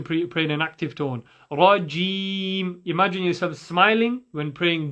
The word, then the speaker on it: رجيم: As we mentioned before, you pronounce a jim from the middle of the tongue touching the top of the tongue. So you're not saying rajim. Okay, it's not dim as some people like to say, especially when you have a certain dialect.